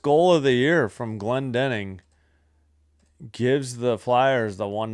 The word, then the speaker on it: Glendening: It's Glendening. Been saying it wrong.